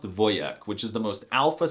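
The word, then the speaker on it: wojak: They can be manly, like the word for soldier in Polish, which is wjack. I'm not even kidding. The wjac meme and the word are Polish, but it's actually pronounced voyak, which is the most alpha Slavic masculine thing I've heard.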